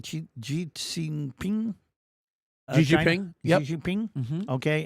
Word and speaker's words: Xi Jinping: Xi Jinping, yep.